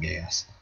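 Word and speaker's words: Geass: think that's a yeah i'll pronounce it gays it's sounds really wrong but it's really not it is yahweh fulfilled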